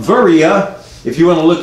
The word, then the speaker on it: Veria: The little town of Berea, now called Veria, if you want to look it up and see where it's at, it's said to have about 30,000 inhabitants, but it's spelled V-E-R-I-A, Veria, and has, you know, depending on what